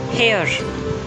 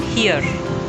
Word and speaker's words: here: It's not here. Here. Come here. It rhymes with ear.